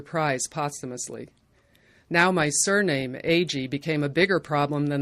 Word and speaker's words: Agee: posthumously now my surname AG became a bigger problem than the many mispronunciations I'd grown used to correcting eggie eggie eggie when people heard my